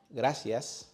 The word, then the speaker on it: gracias: Gracias. Cinco. Cerveza. In most of Spain, many speakers pronounce C and Z with a sound similar to the TH.